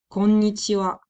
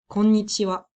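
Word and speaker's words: こんにちは: so let's say like 5 pm you'd say konnichiwa konnichi maybe you've heard before konnichiwa um and to be fair if you say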